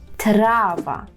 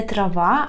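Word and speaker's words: trawa: запам'ятовується окно це вікно трава так не трава а трава трава желана трава hotel hotel нехотель ахотель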